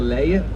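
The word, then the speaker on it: Leie: and the legend now in dutch we call the list delay that's very hard to pronounce for english-speaking people i'll give it a try anyway we could follow this river the layer till the end of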